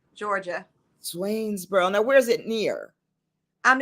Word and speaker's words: Swainsboro: town oh I'm a country girl and it's pronounced Swainsboro Georgia Swainsboro Now where's it near I'm it's in right